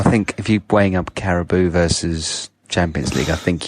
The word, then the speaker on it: Carabao: Carabao. Carabao. Because Carabou's like some Canadian yak, isn't it? It's not that.